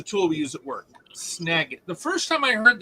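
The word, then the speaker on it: Snagit: okay s n a space i t it's pronounced snag it and it's a tool we use at work snag it the first time I heard that though my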